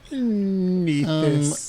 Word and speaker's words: Nethys: Good night, Blake, and your wonderful site, the Archives of Nethys, as it is canonically pronounced. Nethys.